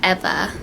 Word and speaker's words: Eva: is effa and yeah it's pronounced eva like how you would pronounce evelyn so yeah her nickname